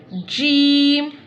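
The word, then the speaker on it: ج: Jeem pronounce from the middle part of the tongue touching the middle part of the palate.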